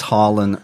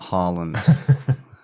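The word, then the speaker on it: Harlan: okay okay great and it's harand not Holland we have mention we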